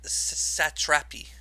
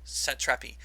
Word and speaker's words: Satrapi: name marjane uh sat satrapi satrapi i'm pretty sure is how it's pronounced set trappy um it is a